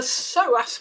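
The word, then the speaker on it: psoas: know it it it's the soas muscle let me spell that for your listeners PS O A the so muscle sits deep in the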